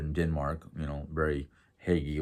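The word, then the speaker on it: hygge: denmark you know very haggy like or huge she actually tells you how to pronounce it it's huge um h-e-w g-u-h so it looks more like huge or huge um and she goes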